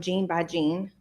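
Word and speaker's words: GeneByGene: Um, gene by gene. How do you spell that? Ge ne y ge ne. So gan like as in a gene in the DNA.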